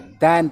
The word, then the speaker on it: than: तो यहाँ पर वो दैन है, दैन प्रोनाउंस करेंगे, देन नहीं।